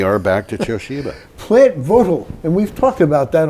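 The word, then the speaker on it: Vogtle: overruns at George's plant votal or Vogal if you want to pronounce it the way it looks like it should be pronounced well I looked it up it's votal it's votal nuclear power plant are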